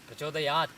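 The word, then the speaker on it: प्रचोदयात्: Prachodayat is the correct pronunciation, not prachodayat.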